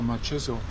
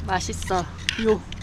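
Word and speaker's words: 맛있어요: One word you learn really quickly in Korea, machiso. Machiso. Means very yummy, tasty. How do you say it? Mashisa yo.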